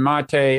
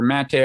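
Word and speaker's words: Maté: had like max blumenthal aaron mate or mate i think he pronounced it on uh from uh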